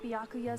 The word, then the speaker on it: Byakuya: What beef has Vector got with Yakuya? He's off in his own little world. What about you, Makoto? After everything we've learned, do you still think Byakuya's the killer? You're supposed to pronounce it Byakuya.